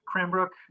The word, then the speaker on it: Cranbrook: you work which is crankbrook academy am i pronouncing it correctly yes i work uh at cranbrook uh the kramerbrook school we start with essentially